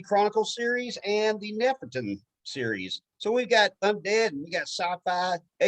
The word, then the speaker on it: Nefertum: Is it Nefertum? Yeah, Nefertum.